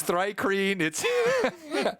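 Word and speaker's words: thri-kreen: say Uric um no it's it's rikus it's thry cream see you see it yeah yeah come on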